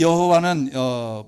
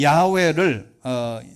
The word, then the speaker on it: 야훼: 잘 아는 대로 여호와입니다 이 여호와는 표기한 대로 이게 히브리원들 본래의 제대로 된 발음은 야외입니다 근데 야외를 우리가 중국식으로 발음을 해서